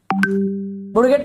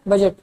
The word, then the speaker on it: budget: बुडगेट मतलब सर बजट. ठीक है, उसका स्पेलिंग बुडगेट है, उसको बुडगेट नहीं पढ़ने का.